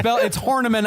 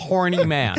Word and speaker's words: Horniman: It's Horniman. I know it's Horniman, but it's spelled Horny Man.